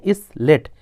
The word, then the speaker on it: islet: Next है आ small Iceland, एक छोटा सा द्वीप, उसे बोलते हैं इसलेट। इसलेट मतलब होता है छोटा द्वीप। इसलेट की स्पेलिंग है ISLET।